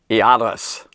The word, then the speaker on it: Iaros: And so now this guy named Jairus, really in the Greek, the J isn't it's not there. It's Iaros.